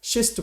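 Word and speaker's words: schist: शिस्ट में कई बार word use करता हूं, इसमें शॉ बोलते हैं, एससी को शिस्ट प्रोनाउंस करते हैं, इस तरह से शॉ प्रोनाउंस करते हैं।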